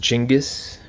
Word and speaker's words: Genghis: to it's actually pronounced jingus as in Genghis Khan two jingus uh help